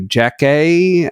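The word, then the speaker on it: Jackée: the very beginning to jack a I guess that's how it's pronounced it's Jackie with an accent on the first of the two e at the end I guess it's Jack a apparently she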